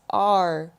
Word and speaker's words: our: pronounce the highlighted word you can pronounce it like hour hour for example it's my dog and your dog it's our dog the other way to pronounce this word is r r r dog in